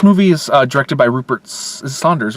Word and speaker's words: Sanders: This movie is directed by Rupert Saunders, right? I can't pronounce. I think it's just Sanders.